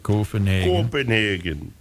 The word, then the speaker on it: Copenhagen: Actually pronounced it right, Copenhagen.